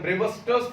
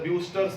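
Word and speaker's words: Brewster: Actually उसका actual pronunciation है ब्रेवस्टर्स theorem, पर उसको बोला जाता है ब्यूस्टर्स थ्योरम।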